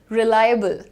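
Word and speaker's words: reliable: रिलायबल। सो यहां पर लाई के बाद हल्का सा अ का साउंड है और फिर बल है।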